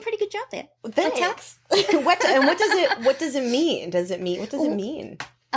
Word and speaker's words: Weta: Weta. Very good. I can't pronounce the most simple words.